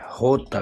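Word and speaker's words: jota: ई next word है जे जे को Spanish में होता कहते हैं होता होता होता खदा जे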